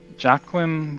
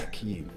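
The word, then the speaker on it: Jaichim Carridin: Joachim Carradine. Jacquim. I like that. Okay, so I said Joachim. pronounce this. Yakim. Yakim Carradine, Yes.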